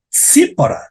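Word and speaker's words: ציפורה: zipar esse lindo nome que se pronuncia como t s sipora sipora t s i p o r a nome de um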